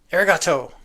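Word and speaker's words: ありがとう: Arigato. Okay. Yes, thank you. Please feel free to correct me if I pronounce that wrong.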